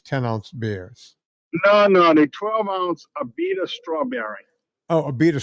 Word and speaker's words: Abita: It's a good thing I had you spell that for me because I was searching like Ibiza or Ibiza. No, it's Abita, ABITA.